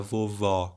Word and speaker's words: vovó: vovô e vovó que você falar vovó com som aberto e colocando acento agudo é vovó do site do sexo